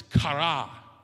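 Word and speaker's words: χαρά: gotta say it okay the word is kara there you say it like you're from greece i don't know what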